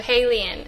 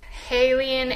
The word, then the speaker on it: HALIENE: And so I switched two of the vowels and made it into Halien. And I just loved that it rhymes with alien. Shout out to my aliens right there. Halien, alien, something.